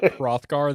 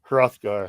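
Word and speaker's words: Hrothgar: Anthropologist how the do you pronounce that um put you to work rothgar the danne rothgar rothgar there we go yeah I'm uh I Fred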